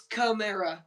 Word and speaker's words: Kamara: Is that Kamara? Yeah, my bad. Just pronounce it. It's Kamara.